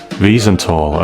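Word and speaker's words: Wiesenthal: Thanks to the Mossad and the relentless efforts of Nazi hunter Simon Weisenthal, pronounced Visenthl.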